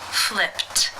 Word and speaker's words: flipped: you pronounce this sound in the infinitive the final sound of the verb is P which is unvoiced therefore it is case one and the Ed is pronounced as a t flipped flipped how do you pronounce